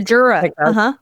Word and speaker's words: Jura: Jira or Jura coffee machine. Yeah, the Jura.